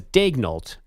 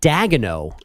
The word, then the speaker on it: Daigneault: Well, so the NBA pronunciation says Daigneault. And then I was watching Tim McMahon on ESPN yesterday, and he was calling him like Dagenot. Oh, well, hold on. Dagenot? Yeah, he like was the throwing French extra syllables in there.